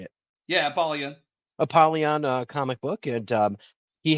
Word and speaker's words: Apollyon: Yeah, Apollyon.